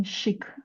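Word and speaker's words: chic: all right okay uh shik woman yes okay shik uhhuh that's a French word I guess that's why okay it's a little bit different pronounced in a differ way uh good m the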